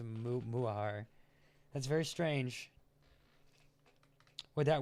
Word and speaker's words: Mutahar: Oh my, the T in Mutahar is silent, so it's a Muahar.